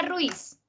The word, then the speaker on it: Ruiz: Bueno, pronuncia Ruiz. Pronúncialo tú. Ruiz. Y cuéntame cuántas sílabas hay ahí. Una, ¿cierto?